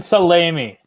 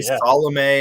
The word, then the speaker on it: Salami: Nathan Salami. Salami. Thank you. I always say Salome, and then there's the salami thing going on.